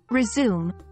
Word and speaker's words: resume: the term resume interestingly the two meanings of resume have different pronunciations One resume noun this